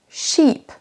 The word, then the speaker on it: sheep: Le premier, c'est un bateau, ship, c'est un I court, et le deuxième, sheep, sheep, c'est un I long.